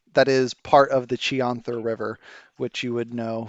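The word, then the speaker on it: Chionthar: there beside you that is part of the chianther river which you would know from being in this region how do you spell that i o c-h-i-o-n t h a r chianthar river thank you sure thing and that was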